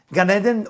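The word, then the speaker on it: Gan Eden: will be clean enough to go and enjoy gun Eden gun is spelled g a n and Eden is e d n ganeden or the Garden of Eden now ganeden considered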